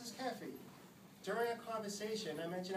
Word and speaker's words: Keefe: was Cathy spelled like keth ke Fe but pronounced as caffy during a conversation I mentioned I was a